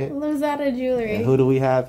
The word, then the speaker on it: Lozada: junk from china india yeah so we're at lazada jewelry right that's how you say it lose out of jewelry who do we have here erica hello